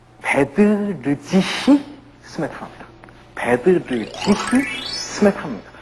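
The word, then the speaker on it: Bedřich: 베드르지히 스메타나입니다. 베드르지히 스메타나입니다. 우리가 그냥 독일어식으로 읽으려면 베드리히 스메타나. 어디가 틀립니까? R이 틀리죠. 베드리히가 아니라 베드르지히 스메타나입니다. R이 발음이 틀려요.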